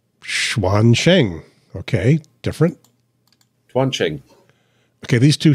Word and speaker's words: Quansheng: Quansheng. Quansheng. Okay. Different. Quansheng. Okay. These two sound pretty much the same. Quansheng.